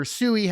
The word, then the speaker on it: SUI: Um, SUI is one that I've been looking at or Sooie, however you want to pronounce it, uh, quite closely.